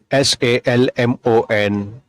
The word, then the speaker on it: salmon: L is silent. ALMOND, amend. CALM, calm. HALF, half. FOLK, fork. SALMON, salmon.